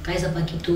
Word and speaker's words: Kaisa Pakito: Alors c'est juste cette phrase qu'on va prendre une pause musicale avec cette chanson de Kaiza Paquito, Je suis occupée. Oui, vous avez bien prononcé mon nom.